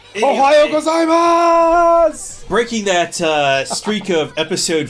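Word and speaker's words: おはようございます: ohayo gozaimasu ohayo gozaimasu you can say it right you got to stretch that out ohayo gozaimasu breaking that streak of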